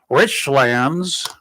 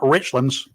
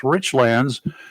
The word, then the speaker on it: Richlands: or going over to Richlands that's how the locals pronounce it y'all it's not Richlands it's Richlands you may notice an